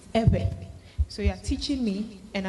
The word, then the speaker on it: Ewe: It is not Ewe, it is Ebe.